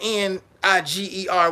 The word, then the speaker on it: Niger: country when I first found not about the n i g e r word I said oh that's niggga no they